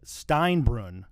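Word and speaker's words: Steinbrunn: 14 you grew up in a town called steinbrun correct am I pronouncing that correctly um yes well that's that's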